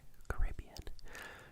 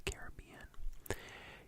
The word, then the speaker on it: Caribbean: one that I think I flipflop between the two pronunciations of but mostly I would say the Caribbean the no actually normally I would say the Caribbean Caribbean Caribbean c a